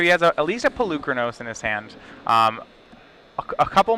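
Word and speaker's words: Polukranos: Reid was telling me it's called Polychronos. It's Pelucranos. It's Pelucranos.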